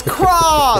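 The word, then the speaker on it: Kraa!: to find Craw, because it's spelt K-R-A-A exclamation mark. The Sea Monster is the name of the movie. It's Craw, the Sea Monster, but it's K-R-A-A, which is not how you think you'd spell the word Craw, which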